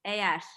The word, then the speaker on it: eğer: there is no smooth G. I'm not. Yes. It's more like again. Yes, we call it eğer. Yeah. Actually, we don't pronounce that letter. Mm. We actually extend the first e like air.